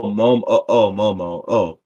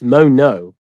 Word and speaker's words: Mono: Oh, Momo. Oh, yeah. I'm not even saying it right. It's Mono.